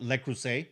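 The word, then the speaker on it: Le Creuset: to pick up and it is called L crus by the way because a lot of people don't know how to pronounce it so these items sell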